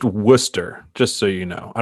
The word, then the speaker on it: Worcester: for that night so it is pronounced Worcester just so you know